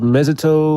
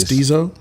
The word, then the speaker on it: mestizo: Mezito, or that's a race? Mestizo?